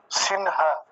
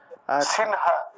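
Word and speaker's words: সিংহ: আছে হরে কৃষ্ণ আচ্ছা মাঝখানে অনুস্বার থাকলে আমরা ন এর মত করে উচ্চারণ করতে পারি তাহলে সিনহা ন শব্দ হ্যাঁ সিনহা সিনহা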